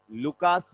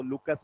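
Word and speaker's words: Lucas: लुकास reagent इसको बोलते अलग अलग प्रोनाउन है दूसरे जो कंट्री के वो लुकस बोलते हैं क्या बोलते हैं लकस और सही प्रोनाउंस इसका लकस लेकिन इंडिया में लुकास बोलते हैं हमारे माने लुकास ही पढ़ाया तो वो आ गया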